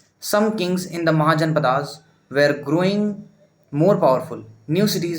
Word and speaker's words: महाजनपद: spelling ध्यान रखना और प्रनंसीएशन इसका सिद्धार्थ होगा इसके गौतम होगा इसका महाजनपद होगा महाजनपदास नहीं हो जाएगा ठीक है एक अजीब